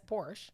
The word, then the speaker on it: Porsche: pronounce it i would i know how americans pronounce it and that's porsche it's supposed to be porsche yeah it's a